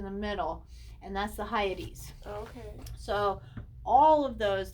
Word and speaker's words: Hyades: Hadium beings is what they would be, but it's Hyades, Hyades.